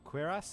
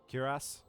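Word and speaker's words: cuirass: Uh, otherwise the qu the quirass, is that how it's pronounced? Curass. I I I think curass. Curass.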